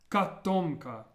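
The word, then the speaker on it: котомка: Well, this word would be pronounced katomka. Katomka. And notice how the first O is pronounced more like an A sound.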